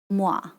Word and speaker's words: moi: So like OI is like wa. Moi.